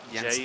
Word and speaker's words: Jensen: My bad, Jensen, J's good are point, not pronounced good point.